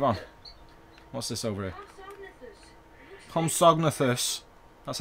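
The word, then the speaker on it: Compsognathus: Homsognathus.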